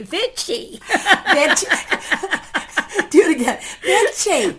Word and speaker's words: Vichy: Yeah, it's Vichy. V-I-C-H-Y? V-I-C-H-Y. Vichy. Vichy. Vichy. So I think what I'll do is just point to Missy every time my Brooklyn, it wants to say Vichy.